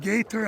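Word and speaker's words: Gaither: I actually went to school at Gator High School. Gator High School. How do you spell that? Just like, G-A-T-H-E-R. okay, so it's not like gator, like alligator. No.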